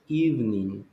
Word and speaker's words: evening: Then the other one is evening. How to take evening classes. Yes, no evening, it's only two sounds.